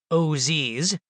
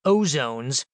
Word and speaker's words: OZs: When I first heard about opportunity zones, or OZs, sometimes pronounced Oz like the wizard, and occasionally called ozones, I was intrigued.